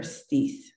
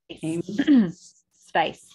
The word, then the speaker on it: Stice: Is it Stice or Steith? Stice. It is nice.